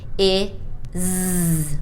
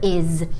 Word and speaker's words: is: It's pronounced like a Z, even though it's an S. So it's not is, it's is, like a Z, like in zebra or zoo.